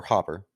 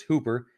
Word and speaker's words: Hooper: the director is one Tom Hooper or Hopper the Hopper's two-piece so it's Hooper um he doesn't really